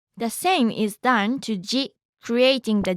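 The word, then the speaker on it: ジ: Remember, it's not supposed to sound like z. Shi with a dakten is pronounced as ji.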